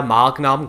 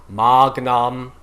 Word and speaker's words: magnum: of anyway um you you can in these instances where it's magnum um change it to a slight k it's not great but